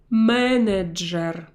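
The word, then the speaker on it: менеджер: manager Ana manager and notice how I pronounce a foreign word that came to our language from the English language I do not soften these syllables I didn't say mean each year although you cannot soften at all these ones I can soften but I will pronounce them in a hard way manager Yvonne Antonovich own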